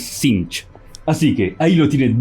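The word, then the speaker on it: Tzeentch: un príncipe demonio primarca que respondía synch o sense como dicen muchos pero la correcta pronunciación es sinch así que ahí lo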